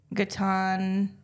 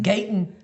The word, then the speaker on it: Gaten: Gaetan. Oh, Gaten Matarazzo or something. Is that how you say his name? Yeah. I thought it was Gaetan. Gaten. Yeah, it's like Gaten.